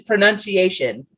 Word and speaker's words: pronunciation: It's pronunciation. Pronunciation. But then, of course, when I say mispronounced. Mispronounce. Yeah. Pronunciation is one of them.